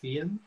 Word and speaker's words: Feehan: So it's Irish. The correct pronunciation is actually with the H silent. It's Feehan. But I'll tell you, about 100% of the time it's pronounced Feehan. Okay. Unless you go to Ireland and then everybody says Feehan. And actually, when some of